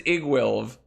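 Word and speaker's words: Iggwilv: The pronunciation for Igwilv is Igwilv.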